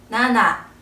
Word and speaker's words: なな: 사자를 쓰고 땅지 자를 쓰고 읽으면 시지 지라고 발음하게 돼요 그래서 지보다 나나 쪽을 더 선호한다고 합니다 또 숫자 1과 7을